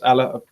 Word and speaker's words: Haller: Neil Shogun is saying that it's going to be it's pronounced Allah. So yeah, apologies. Even though he plays over in the German league, he's French. So yeah, it's Allah.